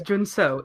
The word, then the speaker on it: Jun Seo: that's crazy to me because it it's it's two syllables. It's two syllables. Like come on. His name is Jun Seo. It's not hard. It's just not It's just not an American name.